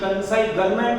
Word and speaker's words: consignment: चलो नजर बोर्ड पे, कंसाइनमेंट स्पेलिंग में डाउट हो तो आप टेक्स्ट बुक देख सकते हो, CONSIG, कंसाइनमेंट नहीं बोलना है, G silent, कंसाइनमेंट accounts, accounts यानी हिसाब लिखना, कंसाइनमेंट यानी गुजराती में बोला जाता है आड़त मालना हिसाब।